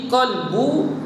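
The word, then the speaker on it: قلب: Dan arti qalbu jantung, dia terjemuh dengan jantung. Jagi dia huruf. Baca dengan qalbu qaf, bukan dengan kaf. Kalau kaf kalbu, qalbu jantung, kalbu anjing. Maksud dia lain tu.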